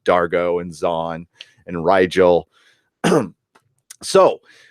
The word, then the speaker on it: Dargo: Like I was calling him Diargo, but I guess they just call him Dargo and Zahn and Rigel.